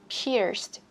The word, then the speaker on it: pierced: Bật chữ D này ra cho mình, pierced, ear.